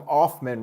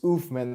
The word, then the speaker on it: Uthman: I always called him Offman Rules, and it was Uthman the entire time.